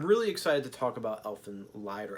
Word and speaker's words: Elfen Lied: back and I'm really excited to talk about Elfen Lied or elfin lead whichever you want to pronounce it Dark Horse is putting in these